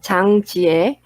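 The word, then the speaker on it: Jang Ji-ae: Pela pronúncia de coreano seria Chang Jie, ou também me chamam de.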